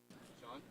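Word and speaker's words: Shann: S-H-A-N-N. Shan or Sean? Sean? Yeah. Okay, we'll go with Sean.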